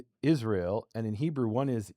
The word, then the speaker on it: Israel: Well, and it's weird that we pronounce it, Israel instead of Yisrael, or right?